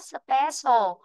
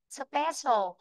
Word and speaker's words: special: Còn đáp án A chúng ta đọc là âm sơ dài của tiếng Việt nhá. Special. Nó được phiên âm nó như thế này này. Chữ cơ nó được phiên âm thành chữ sơ. À, thành sô. Special.